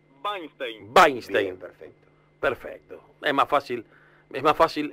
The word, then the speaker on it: Wajnsztejn: mediodía de FM Sur Cómo pronunciamos el apellido el apellido Cómo vainstein Perfecto perfecto Es más